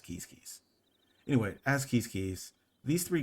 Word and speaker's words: Quizquiz: I didn't mention this, but keys is pronounced, like you may pronounce this quiz, and the achievement is quiz pro quo. But this actual pronunciation of this tribe is keys.